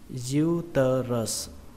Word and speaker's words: uterus: Từ thứ hai chúng ta đọc là uterus, uterus, uterus. Trọng âm của nó rơi vào âm đầu tiên, âm diu, âm diu, hoặc là các bạn có thể đọc là âm u, u cũng được.